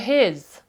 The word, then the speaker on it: his: г і х послухайте his Я не говорю his Я не говорю his я говорю his щось середнє між ними him his H Here